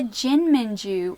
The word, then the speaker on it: jinmenju: They're meant to be pronounced like quickly.